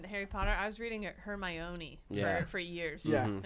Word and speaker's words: Hermione: character, the audiobook is going to nail the pronunciation. I read in Harry Potter. I was reading Hermione for years. Yeah. And it's Hermione.